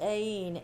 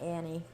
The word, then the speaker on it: Aine: I think it's pronounced Aine, A-I-N-E, not Annie.